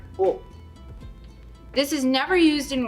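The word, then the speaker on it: を: わ、 There is also this hiragana wo, which is sometimes romanized as wo, but it is pronounced as o.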